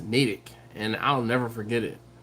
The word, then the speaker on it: Natick: natick and like like matt ich but it's pronounced natick and i'll never forget it uh clinton says